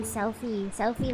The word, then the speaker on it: Celphy: Also, your name's Celphy, but pronounced Sophie. Nah. Did I say Sophie? Selfie like take a selfie? You take a selfie with your phone. That's how you pronounce my name.